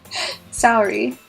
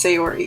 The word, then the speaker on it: Sayori: Saori. Sayori. I think I'm just saying her name wrong this entire time. I think it's Sayori, yeah. I don't know where I got Saori. I'm sorry.